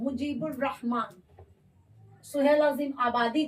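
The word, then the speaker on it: مجیب الرحمن: अब यहाँ देखिएगा आप कि यहाँ पे मुजीबुर रहमान लिखे तो मुजीब अल रहमान करके लिखे। कहने का मतलब है कि हम डायरेक्ट बे के बाद रे को प्रोनाउंस किए। अलिफ और लाम तो लिखा है, लेकिन ये अलिफ लाम क्या है, साइलेंट है, इसकी आवाज नहीं आ रही है।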